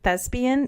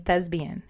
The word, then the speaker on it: Thespian: Not even Yesterday, I was saying the word Thespian. It's with a P, and I kept saying Thesbian.